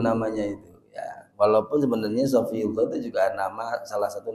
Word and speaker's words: Shofiyullah: sering keliru sering keliru orang lebih familiar nyebut Saifullah daripada sofiullah Angel muniofiah iku angel angel berkali-kali dalam kakti familiar gitu loh namanya itu ya walaupun sebenarnya sofiullah itu juga nama salah